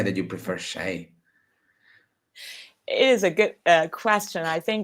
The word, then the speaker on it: 谁: and sometimes it will be spelled in pinyin as shei. But you can choose. You can choose whichever you prefer. So, shay, how do we use shay?